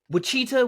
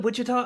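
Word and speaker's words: Wichita: No, it's Look, wittita witchah. I've heard it both ways. The the Spanish that came to this land pronounce it wittita, right?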